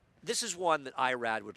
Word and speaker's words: Irad: Well, in Spanish, it's Irad Ortiz.